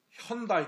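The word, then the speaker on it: Hyundai: 미국과 캐나다에서이 한국의 현대차를 광고할 때 처음에는 현대라고 발음은 안 했어요. 그렇죠. 현다이. 그렇죠. 약간 일본 말로 혼다 비슷하게 혼다 이렇게 했단 말이에요.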